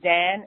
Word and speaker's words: Xan: whatever you call it is Zan, and it's spelled Xan. Okay, so Zan, and then look up, you know, what else is possible.